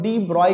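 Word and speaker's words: de Broglie: आपको पता नहीं होगा, इसको डी ब्रॉय कहते हैं। अब बोलोगे सर ब्रॉय तो BROY होना चाहिए, ये तो कुछ और है, नहीं बच्चों, फॉरेन लोगों का प्रोनाउंसिएशन लैंग्वेज जर्मन नेम हो सकता है, फ्रेंच नेम हो सकता है, ऐसा ही होता है।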